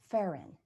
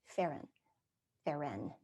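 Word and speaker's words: pherein: Metaphor actually comes from Greek words, meta, M-E-T-A, meta, meaning over or across, and pheron, pronounced with the accent on the second syllable, but it's spelled P-H-E-R-E-I-N, pheron.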